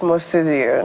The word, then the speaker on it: Mostudeo: amundo is the CEO mudio is that you pronounce it yes mudio nice to meet you good morning my name